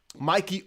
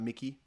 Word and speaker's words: Mikey: Mikey. I hope you pronounce it like that and not Mickey, but Mikey.